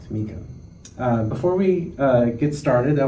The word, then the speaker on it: Tamekiah: Tamekiah.